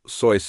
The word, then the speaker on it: Seuss: Her maiden name, Seuss, which is pronounced "Soice" in German, would later become his famous pen name.